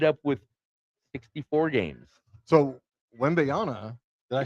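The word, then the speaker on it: Wembanyama: So Wembyana, did I say it right?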